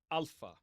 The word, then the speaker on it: alpha: So we're going to start here with the first letter, alpha. Alpha. Okay. And in this pronunciation system, we're going to pronounce it ah. Ah. Okay. So alpha makes ah as in father.